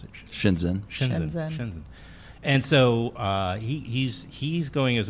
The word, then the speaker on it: Shenzhen: How do you pronounce it? Shenzhen.